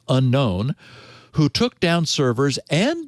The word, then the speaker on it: UNKN: leader, known as the four uppercase initials UNKN, I guess thus pronounced unknown, who took down servers and disappeared.